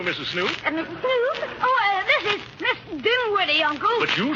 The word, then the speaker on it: Dinwiddie: Dinwiddie. Henrietta Dinwiddie. With an N, not an M, and the accent on the widdy, not on the din.